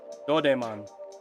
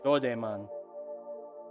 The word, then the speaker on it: Doraemon: Doraemon. Doraemon. That's how it's pronounced according to Alex Nostalgics, who's actually in Japan, so I'm not gonna argue.